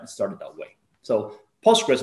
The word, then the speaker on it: Postgres: started that way so postgres means after english or post english now i understand that sometimes pulse press ql it's a bit hard to pronounce so it's also accepted if